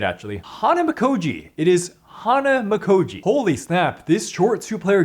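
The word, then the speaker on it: Hanamikoji: to say it actually Hana makji it is Hana makoi holy snap this short two-player game shocked me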